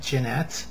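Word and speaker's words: Llanet: She got named Jeanette, but it's spelled L-L-A-N-E-T.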